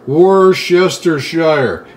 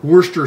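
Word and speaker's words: Worcestershire: that for a second what is this a war yester Shire and I've got friends in England and they call it Worcester sauce they said that's the right way to say it Mena's that's British they caught Worcester sauce let's all call it that you're gonna need some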